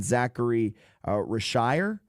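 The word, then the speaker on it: Zaccharie Risacher: You have what you hope to be is your number one overall pick from last season Zachary Rashire I think is how you pronounce it. It's French.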